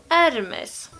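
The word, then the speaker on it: Hermès: här korrekta uttalssätten ifrån, så är inte det här Hermes. Eller Hermes. Det här uttalas Hermes. Varför döper man inte bara märket till Hermes och tar bort H:t?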